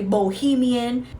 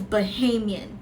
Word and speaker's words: Bahamian: Some people say Bohemian. The way it's pronounced is Bahamian. I am a Bahamian, not a Bahamian and not a Bohemian. Just so we all know the correct pronunciation of it, it's Bahamian.